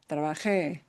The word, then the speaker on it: trabajé: Trabajé. It's a special meaning. Yeah. We're same thing here. Last letter is a vowel. Normally, the normal pattern in Spanish is we punch the second to the last syllable if the last letter is a vowel. But no, because we're breaking that pattern, that rule, we have to write the accent mark in.